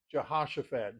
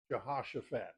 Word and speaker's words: Jehoshaphat: One of the more fun names to pronounce in Old Testament. Jehoshaphat, J E H O S H O P H A T. Jehoshaphat.